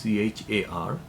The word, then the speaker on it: char: the data type is ch AR so someone pronounced it as care someone pronounced it as char whatever and we have